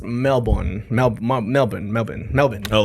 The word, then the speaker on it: Melbourne: is pronounced Melbourne. Melbour Melbourne. Melbourne. Melbourne. Oh, like there's no R. He has no R in it. It's Melbourne. We basically swallow the middle bit. Like two syllables.